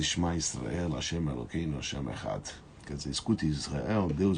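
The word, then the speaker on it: אחד: Echad em hebraico termina com D, mudo, com a letra Dalet. E os sábios falam que quando você pronuncia essa frase, você deve pronunciá-la de maneira tal, onde se expressa o Dalet de uma maneira forte.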